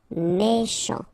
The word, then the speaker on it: méchant: Final T not pronounced. CH together, sh. Méchant, méchant.